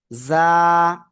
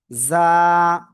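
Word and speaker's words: ظاء: জিব্বার আগা, সামনের নিচে দুই দাঁতের পেট ও আগার সাথে লাগাবেন, লাগিয়ে আপনার জাস্ট এক আলিফ টেনে উচ্চারণ করতে হবে। যা, যা।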